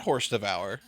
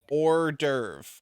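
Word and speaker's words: hors d'oeuvre: say urve or spell it's not horse devour even though it like that oh my God I literally didn't know that was ORV God yeah or derv because you say it like the French roast mean roast is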